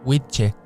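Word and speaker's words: wicce: de sexo masculino y la palabra wise que se pronuncia Witcher utilizada para denominar a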